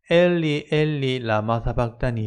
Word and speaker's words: 엘리 엘리 라마 사박다니: 버리셨나이까 라고 되어 있죠 이건 히브리어로 고대로 발음하면 엘리 엘리 라마 사박다니 에요 이 말씀 그대로 인용했다